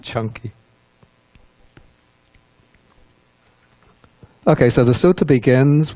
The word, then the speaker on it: Canki: the other kind is chunky Skippy peanut butter yeah they have smooth or chunky so this is pronounced chunky ok so the suta